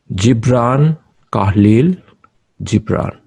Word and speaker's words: Gibran Khalil Gibran: The correct pronunciation would be Gibran Khalil Gibran.